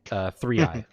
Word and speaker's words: Thriae: Okay. Thriae. Yeah, it's like 3i, but yeah. It's Greek.